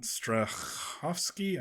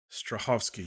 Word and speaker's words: Strahovski: Sheen we've got yvon stovsky I can't I don't think I pronounced her name right her last name right Strahovski yes stovsky we've got